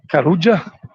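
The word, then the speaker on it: Carulla: is a small supermarket called karuja double l we pronounce it in spanish and this is a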